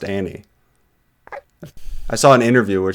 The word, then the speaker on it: Anne: no, her name is pronounced Annie. I saw an interview where she was saying like, yeah, I've just like everybody's called me Anne my whole career, but like it's actually pronounced Annie.